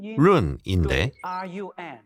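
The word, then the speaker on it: 润: 연구소장입니다 그런 타일 중국은 중국어로 발음하면 룬인데 영화의 런과 똑같죠 달아난다는 뜻입니다 또한 윤택함을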